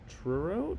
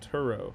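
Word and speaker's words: Turow: Joseph Tur Truro. No, Turo.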